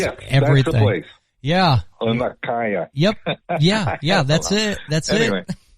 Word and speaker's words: Laniakea: And our galaxy system, our Laniakea galaxy, I probably pronounced that wrong, Laniakea, it's a Hawaiian word.